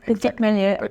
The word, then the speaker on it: Petit Meslier: Well, I understand that you like the Petit Meslier. Did I pronounce it correctly? What? Petit Meslier. Petit Meslier and Arban, because they can retain the acidity, and in the future it could be good.